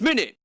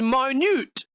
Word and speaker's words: minute: If this was a noun, then it'd be pronounced minute. But since this is an adjective, you blind bastard, this is minute, as in very small.